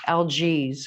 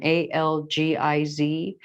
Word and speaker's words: Algiz: And this particular rune, I always call it the wrong thing because I can never pronounce it correct. So give me 1 second. Algiz is the name of this rune, Algiz.